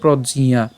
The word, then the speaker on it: প্রজ্ঞা: এবং হচ্ছে ইয় আকার তাইলে এটার উচ্চারণটা আমরা উচ্চারণ করব কিভাবে প্রজিয়া প্রজিয়া এরপর প্রতিষ্ঠিতা প্রজিয়া প্রতিষ্ঠিতা তাইলে আমি যদি